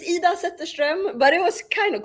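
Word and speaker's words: Zetterström: It's Ida Zetterstrom, but it was kind of close.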